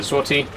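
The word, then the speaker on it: złoty: he told me that the L with the line through it is pronounced like a a w in English like a w sound I don't know if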